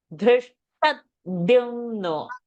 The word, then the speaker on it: धृष्टद्युम्नो: Dhrishtadyumno, no. Dhrishtadyumno, tadyumno. धृष्टद्युम्नो विराटश्च सात्यकिश्च पराजितः. The pressure is not on dyu, pressure is on t. Dhrishtadyumno.